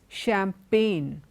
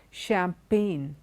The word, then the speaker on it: champagne: look at these words champagne so whenever we have an end and you have a G before it in most cases the G is not pronounced champagne foreign design a line